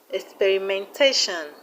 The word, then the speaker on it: experimentation: We have experimentation, experimentation. The stress is on TAT. Experimentation.